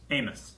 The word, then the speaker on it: Amos: go what do we do even and then amos that's how you say it right not most amiss amos amos like which is he's just in the